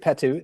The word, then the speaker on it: Potoo: Yeah, this is a great Potoo. At least that's how my dictionary says you should pronounce that word. It's spelled Potoo, but it's a great Potoo.